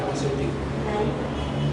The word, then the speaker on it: farmacéutico: Entonces, vamos a pronunciar correctamente, ¿verdad? La palabra es farmacéutico. Farmacéutico. ¿Cuál es la sílaba tónica? Más fuerte. Farmacéutico. Cero. ¿Correcto? Última, penúltima, antepenúltima. Es una palabra esdrújula.